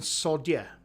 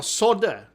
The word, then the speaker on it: solder: It sounds sounds like you're saying Sodia. No, solder. You call solder the solder in iron. You call the solder in America, which I don't know why. I don't know why there's a silent L in America.